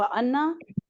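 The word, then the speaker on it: أنا: फता पस आप फ अन्ना पस मैं तुम बस आप बस हम सब जी आप जल्दी से बोलेंगे अना अना अना मैं इसका जो अलीफ है ना वो साइलेंट है जी वाहु वाह का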